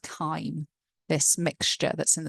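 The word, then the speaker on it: chyme: So the hydrochloric acid is now called kime. This mixture that's in the stomach I know it looks like it's pronounced chime but it's not.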